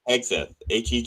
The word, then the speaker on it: Hegseth: Hegseth.